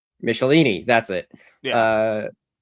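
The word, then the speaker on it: Michelinie: do you say his name Michel Michelin Michelini Michelini that's it uh which I need to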